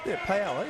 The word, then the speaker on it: paella: I wonder if he's found good paella in Perth, or paella. I don't know how to say it properly. It's paella, yeah.